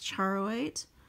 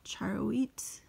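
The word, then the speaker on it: charoite: here here and then this one is Charo 8 or char wheat I've heard both pronunciations just a small piece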